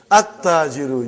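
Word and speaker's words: التَّاجِرُ: What is the next one, brother? At-tajiru. You did not pronounce lam. Why you did not pronounce? Because it is sun letter.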